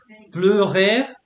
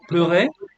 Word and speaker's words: pleurer: Pleurer, so pronunciation of EU is like yeah. Pleurer, to Bleu.